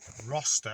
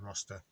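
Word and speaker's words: Rocester: Currently in Roster, I think that's how you pronounce it. So it looks like Rochester, but it's without the H, so I think it's pronounced Roster in Staffordshire.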